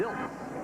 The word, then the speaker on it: Diltz: It's Diltz, not Ditz.